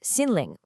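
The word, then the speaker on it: 心灵: Well, that brings us right to our next layer, what we call your inner content, or in Chinese, xinling, pronounced xinling.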